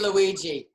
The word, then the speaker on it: Luidji: That would be Luigi. Ah, it's spelled Luidji.